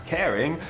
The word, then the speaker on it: Kering: It is pronounced the same as Kering, but also plays with the origin of the business in Brittany, the northern region of France.